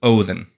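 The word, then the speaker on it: Óðinn: The D, you would think in Odin is like in loathe, the. So Othin.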